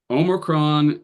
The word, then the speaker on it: omicron: Omicron is contrasted with omega. So Omicron is like ah. So you guys were tending to pronounce Omicrons like omegas, a little bit too much like an O, more like ah.